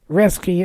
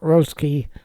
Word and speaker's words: Roeske: The ROE in both names is pronounced the same, with the O being essentially silent. So it's Reske and Rell, not Roski or Roel.